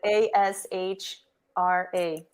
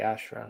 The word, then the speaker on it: Ashra: This is how I spell it, but ASHRA. Oh, I just want to make sure I'm saying it right. Ashra. Yeah, Okay.